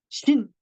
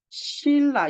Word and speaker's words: 신라: 우리 삼국 시대의 신나잖아요데 이거 실제로 발음은 어떻게 해요 우리가 딱 여기 써진 것처럼 신라 이렇게 발음하나요 아니잖아요 얘는 어떻게 발음해 실라 이렇게 발음을 해요 발음은 이렇게 하는데 우리가